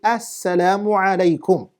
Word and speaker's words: Assalamu alaikum: So you have to say Assalamu alaikum. Bear that in mind. Assalamu alaikum. That's how you say it, inshaAllah ta'ala.